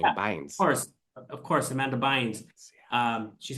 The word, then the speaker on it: Bynes: And now that you say Bynes, that, that's how you say her name, yeah, Bynes.